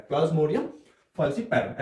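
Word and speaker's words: Plasmodium falciparum: प्लाज्मोडियम, फसी पैरो। ऐसे हम इसको प्रोनाउंस करते हैं पूरे नाम को।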